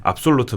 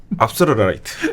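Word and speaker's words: Afsluitdijk: 압솔루트 방조제라고 이것도 발음이 이제 현지 발음이랑 좀 다릅니다. 네. 근데 우리나라에서 현지 발음을 한번 해주시죠. 압솔라이트. 이거 조금 다릅니다.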